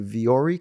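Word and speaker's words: Vuori: versatile clothing on the planet punch over to viori clothing dot com forward slash finding mastery and so you spell it viori v u o r i v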